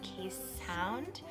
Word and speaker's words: Keeshond: They're pronounced Keeshond.